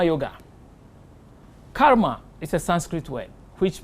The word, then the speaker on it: karma: yoga straight the second one J taught is karma yoga karma is a Sanskrit word which means action Karma